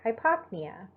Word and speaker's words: hypopnea: A PN in the middle of the word, you actually are going to pronounce a hard P and a hard N. So tachypnea or hypopnea.